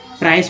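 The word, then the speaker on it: price: ये नहीं कि प्राइस को आप प्राइज आज तक पढ़ रहे हैं, वैसा गलती नहीं करेंगे, नहीं तो पता नहीं चलेगा क्या कैसे शुद्ध पढ़ा जाता है।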